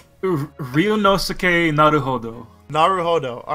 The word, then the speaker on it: Naruhodō: I still can't pronounce his name. Ryūnosuke Naruhodō. Naruhodō.